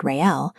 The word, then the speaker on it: Raël: According to Lord Raël, pronounced Ray and El, the celebration of the day itself is not forbidden.